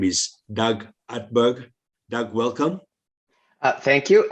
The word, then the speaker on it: Utberg: joined by a guest his name is doug hatberg doug welcome uh thank you and uh thank you for pronouncing my name right not everybody does uh